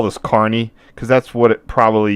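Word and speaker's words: Kearney: this is um key k e a r n e y pronounced carny sorry one second that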